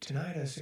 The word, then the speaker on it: tinnitus: Tinnitus or tinnitus. Like can we agree on pronouncing things one way, guys? I like pronouncing it tinnitus.